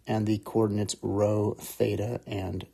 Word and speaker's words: rho: know what Theta is row is spelled rho and F is Phi